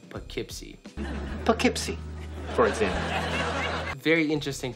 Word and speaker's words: Poughkeepsie: Common popular pronunciation is Poughkeepsie. That sounds weird as hell. Prevailing local pronunciation, Poughkeepsie.